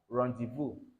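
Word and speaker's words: rendezvous: Then rendevu meaning what? Ben. All right. Rendevu. All right. This how it is spelled.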